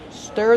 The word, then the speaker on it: stir: Stir the food with a whisk. How do we pronounce stir? Stir. Use the closed sound like burger.